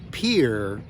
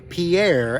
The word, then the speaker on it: Pierre: did say that correctly it is pronounced by the locals Pier not Pierre as I learned it